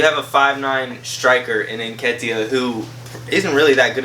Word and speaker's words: Nketiah: Nketiah. Nketiah, he's 5'9". He should not be guarding 6'2" Harry Kane when he's amazing in the box. Yeah, you have a 5'9" striker in Nketiah who isn't really that good in the air,